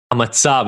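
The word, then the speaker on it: המצב: Hamatzab is how you say that. That's the Hebrew word for it. Is literally, it means the situation.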